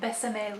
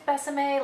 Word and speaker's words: Besame: So if you don't know the whole story with Besame, I'm assuming it's Besame, like rhymes with Tresemme, but I'm not 100% on that, but I'm just gonna go with Besame all day.